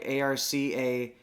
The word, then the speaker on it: ARCA: Yeah, so the ARC Series is how you would pronounce that.